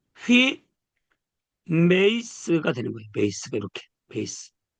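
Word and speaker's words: ὑμεῖς: 그래서 발음을 휘 메이스가 되는 거예요.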